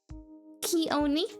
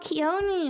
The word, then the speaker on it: Kioni: Kayoni? Hi? How do you pronounce your name? What would you prefer to be called? Just so I don't mispronounce it. Kioni? Oh, Kioni, or just.